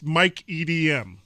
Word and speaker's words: Mike EDM: one to throw the parties okay so it's Mike EDM you know you don't pronounce that all the letters together no not